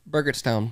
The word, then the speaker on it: Burgettstown: can't read that text Town how do you pronounce it burgerstown Burgers Town yep it's a mouthful it's a